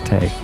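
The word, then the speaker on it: Tei: That's Tay. And the only reason why I know it's pronounced Tay is cuz she said, "I'm Ti.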